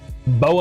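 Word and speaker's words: Beux: I doubt you've heard Bow and Boba.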